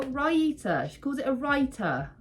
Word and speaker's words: raita: what the frickity Frack she calls it a writer raita I'm pretty sure ryita she calls it a